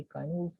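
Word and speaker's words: Cynewulf: इसको साइन नहीं कहना आपने, इसकी प्रोनाउंसिएशन बेशक चेक कर लीजिएगा. ये काइनवुल्फ है और ये दोनों रिलीजियस पोएट्स थे.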